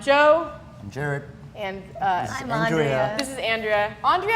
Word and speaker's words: Andrea: And I'm Andrea. Andrea. this is Andrea. Andrea or Andrea? I haven't known you for years. It's Andrea. I have been mispronouncing my good friend Andrea's name for 3 years.